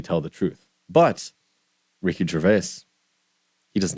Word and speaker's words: Gervais: How do you pronounce his last name? Gervais.